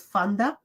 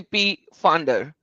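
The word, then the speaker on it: Pfander: It pronounces Fanda. Okay, Fanda. Yeah. All right. Fanda. Silent. Please silent.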